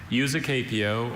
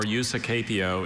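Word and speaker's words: usucapio: Useapio. May I have all the information, please? Useapio or usapio is a noun from Latin.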